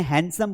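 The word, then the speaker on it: handsome: अब यहां पर भी ड नहीं बोलना है। हैंडसम बोलना है।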